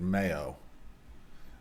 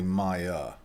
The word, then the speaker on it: Maya: Now, I think it's Maya. And I might have been hungry when I wrote this and put mayo and then tried to pronounce it Mayo because it's really Maya.